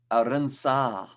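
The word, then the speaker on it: Arendse: And the A you pronounce in Bath. Arinsa.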